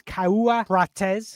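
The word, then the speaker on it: Cauã Prates: Brazilian, and that is Caua Prates. And yes, that is how you pronounce it, because I've just Googled it and listened to Google Translate.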